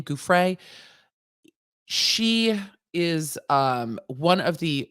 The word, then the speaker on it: Giuffre: the lawsuit brought by virginia goof ray or guffrey i i vacillate in how i pronounce her last name gouffrey is um one of